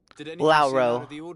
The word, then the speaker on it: Lauro: Jonas Lauro and myself Lauro Lauro that's how you pronounce it troubled look he was